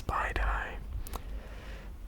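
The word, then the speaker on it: spiedie: Spidey or Spidey, I think it's Spidey. It is spelled S-P-I-E-D-I-E. Spidey, I think it is.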